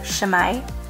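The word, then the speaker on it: 姉妹: sisters but in Japanese so you pronounce that shamai so what we had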